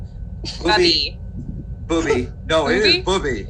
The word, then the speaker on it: Booby: No, it is Booby. It's not pronounced.